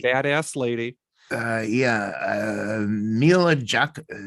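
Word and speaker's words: Milla Jovovich: Uh Mila Jav, how do you say it, DJ? Okay. She is the star of the Resident Evil films. Mila Jovovich.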